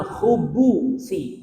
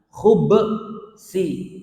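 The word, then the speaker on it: الخبث: Jadi bacanya dua-duanya boleh jemaah ya. Bacaan pertama minal khubusi, berarti baknya di dhammah, khubbu. Yang kedua dibacanya baknya disukunkan menjadi apa? Minal khubsi, minal khubsi.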